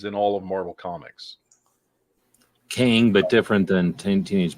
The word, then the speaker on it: Kang: all of Marvel Comics King but different than 10 Teenage Mutant Ninja Turtles king that's Krang yeah just remove the r it's it's otherwise it's